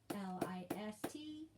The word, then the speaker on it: listen: w e r answer sword s-w-o-r-d sword listen l-i-s-t-e-n listen wood w-o-u-s would should s-h-o-u-l-d should often